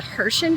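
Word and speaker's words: Herschend: I believe it's pronounced the Hershend Entertainment Group.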